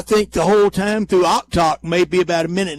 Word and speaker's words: Oktoc: And one said he's heard it every different way, and another one said it's Oktoc.